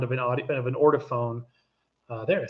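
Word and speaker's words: Ortofon: Like you're talking about, even when I always say the warmth of a Grado versus the colder sound of an Ortophone.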